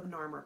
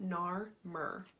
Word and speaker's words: Narmer: The king on either side is labeled with the hieroglyphics of a catfish and a chisel, which phonetically spells out Nar-Mer.